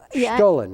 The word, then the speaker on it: Stollen: Stollen, it's pronounced.